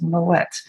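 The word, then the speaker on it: Moët: and they said no no no it's not my way it's moet and the family name is actually dutch in origin so the moet family was from flanders so kind of modern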